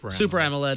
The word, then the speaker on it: Super AMOLED: It's got an HD SAM OLED, SAMOLED, is that how you say it? Super AMOLED, yeah.